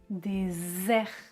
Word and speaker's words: désert: différence des sœurs des heurs trisème paire dessert désert dessert déser des der et enfin la dernière